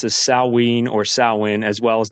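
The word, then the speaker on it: Samhain: or All Souls of the GAA most often pronounced as saween or Sinn as well as the Feast of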